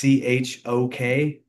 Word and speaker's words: Chokheli: Chokaheli. Heli. Yeah, I don't know if that's the right way to pronounce his last name. And Levon, I apologize. But it's Chokheli.